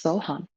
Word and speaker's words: So Ham: meditation on the mantra So Hum. So Hum. It's spelled SOHAM, but pronounced So Hum.